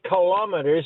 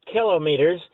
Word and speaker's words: kilometers: And I don't know why people say kilometers when it's not pronounced that way, but I know you do it the proper way. and so does Kalin. It gives the weather. But that when you pronounce a word like kilometers, it's broken up into three syllables like I was taught in school.